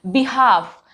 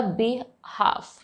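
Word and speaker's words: behalf: Next देखिए, बिहाफ, तो ये कॉम्बिनेशन याद रखिएगा, LF, एफ से पहले यूज हुआ है तो हम यहाँ पे एल को नहीं प्रोनाउंस करेंगे, ये हो जाएगा बिहाफ, राइट।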